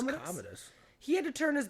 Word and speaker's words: Commodus: I believe it's Commodus.